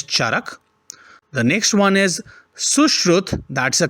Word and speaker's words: Sushruta: The next one is Sushrut. That's a correct pronunciation, whereas I mentioned or read it as Sushruta, right?